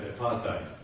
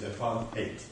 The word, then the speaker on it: Apartheid: You pronounce it here in the United States of America as Apartheid. The proper pronunciation is Apartheid. That's the way we grew up.